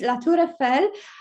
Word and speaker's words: La Tour Eiffel: I would just pronounce this in the French way, because I know if you said Eiffel Tower, it sounds terrible for the French. So it's La Tour Eiffel.